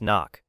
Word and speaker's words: NOC: Non-official cover. Knock. Pronounced knock.